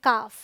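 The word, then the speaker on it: calf: ओ और यू है तो सी ए एल एफ ओके ए के बाद आया है ना ये है काफ इसे हम पढ़ेंगे हाफ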